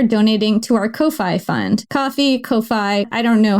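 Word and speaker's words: Ko-fi: Coffee Kofi. I don't know how to pronounce this. Kofi. It's spelled Kofi, but I guess it's supposed to be coffee.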